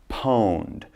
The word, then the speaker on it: pwned: is poem it's pronounced pwned okay they don't type the O but they say pwned and what this means